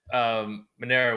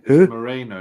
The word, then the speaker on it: Moreno: Moreno was a very good champion. To take the belt from him in front of a majority Mexican crowd. I personally think that Monero won that. It's Moreno, not Monero.